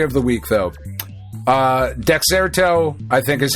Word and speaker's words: Dexerto: Uh, Dexerto, I think is how you say this.